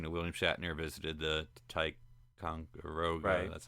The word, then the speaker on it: Ticonderoga: news is you know, William Shatner visited the Ticonderoga. That's how you pronounce that.